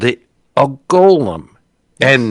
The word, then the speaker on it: golem: A Gollum, Well, Gollum is a construct. Golem is some greedy little old hobbit. But yeah, it's just it's Golem.